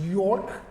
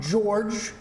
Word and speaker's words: Jorg: And so I've learned tonight that it is York, not George. George is the American way.